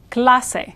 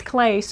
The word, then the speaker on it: clase: becomes a k sound Clase Clase so no e at the end making this Clays or anything like that in English you pronounce every vowel that you see notice the syllable in